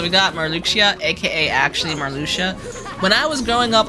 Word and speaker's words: Marluxia: So we got Marluxia, aka actually Marluxia. When I was growing up, I called that man Marluxia, okay? Everybody and their mom called that man Marluxia, okay?